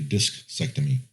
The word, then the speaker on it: discectomy: Okay, so I had a disectomy for my back in 2009. I had a wait. Say that again. It's a disectomy. It's like a vasectomy, but it's a discectomy.